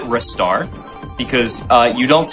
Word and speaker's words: Ristar: So I pronounce it Ristar because you don't pronounce my name Listar.